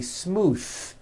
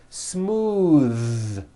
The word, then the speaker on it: smooth: believe it or not the th sound in smooth is voiced most foreign speakers say this word incorrectly they say smooth with an unvoiced th but it's voiced smooth bathe the word bath